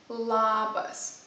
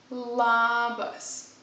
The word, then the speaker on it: labas: somebody you would say labas the important thing this word is to pronounce the sound really openly labas for the moment don't